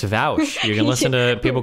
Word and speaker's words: Vaush: Technically, it's supposed to be Vaush, is how you say it, okay? I think you're lying right now. I'm not lying. It's Vaush.